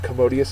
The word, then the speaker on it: commodious: to remember uh but commodius is an adjective second syllable is accented it means roomy or